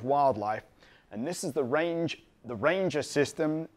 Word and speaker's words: RangeIR: I happen to shoot a lot of wildlife, and this is the Ranger system. It's spelled RangeIR because it's an infrared retroreflective system.